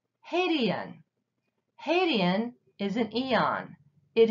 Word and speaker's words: Hadean: can is an eon Haitian hey D and Haitian Haitian is an eon